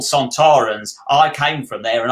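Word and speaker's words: Sontarans: fashion australian um and that's why they're santarans and not sontorans because kevin lindsay actually came up with the pronunciation um we love these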